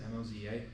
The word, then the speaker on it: Moza: Um Um, there are some cheap cheaper direct drive wheels from brands like MOSA, as they pronounce it, Moza.